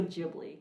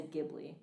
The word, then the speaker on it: Ghibli: And like some of the Studio Ghibli films, you already feel like you're kind of high just Yeah.